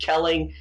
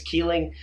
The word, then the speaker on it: Keeling: I want to mention the fact that I've been saying it. Kelling. Undoubtedly, the correct pronunciation is Keeling.